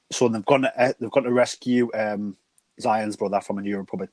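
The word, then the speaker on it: Xi'an: I can't remember, how do you pronounce her name? Is it Zion? Zion, yeah.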